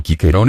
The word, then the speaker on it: Cicero: a propósito del egere el nombre de cicerón cicerón en pronunciado quiquerón en latín clásico tuvo suertes diversas en